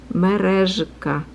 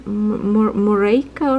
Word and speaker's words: merezhka: I know for English speaking people it's kind of hard to pronounce because you don't have that letter in English. It's like a merezhka.